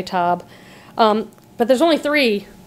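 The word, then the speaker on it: Sur La Table: cookware expensive store sirab it's spelled like table but in French say toab um but there's only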